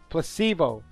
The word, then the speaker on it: placebo: today repeat after me Placebo the stress is on the middle syllable placebo it's Splendid it's so Charming